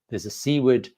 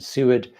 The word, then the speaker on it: Seward: And I think that threw up, wow, there's a Seaward, because I got the pronunciation wrong. When I was on the trip, I learned the right pronunciation. Seward to Tokyo, which has